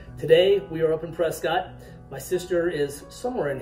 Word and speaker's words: Prescott: Well, phonetically, in the way it's spelled, Prescott, but we all here call it Prescott.